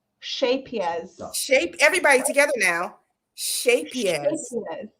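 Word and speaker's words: Scheepjes: gave me a lesson so it looks like sheepies but it's pronounced shapiers shapias shape everybody together now shapier so it's like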